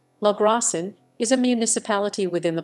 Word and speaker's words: Logrosán: spanish pronunciation la gracian is a municipality within